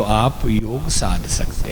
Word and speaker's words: योग: नहीं बोलेगा आयुर्वेदा, और योग कभी नहीं बोलेगा योगा।